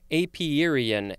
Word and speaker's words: apiarian: it's very well done next we have apiarian i sort of extra emphasize that one apiarian a p i a a-r-i-a-n this is an adjective from